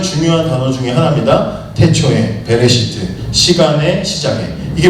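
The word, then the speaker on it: בְּרֵאשִׁית: 여러분 태초로 번역돼 있는이 히브리어는 베레 시트라고 돼 있어요 베레시트 뭐 빼레 시트라고 읽기도 하고 베레 시트라고 읽는데이 말은 정확하게는 뭐냐면 시간의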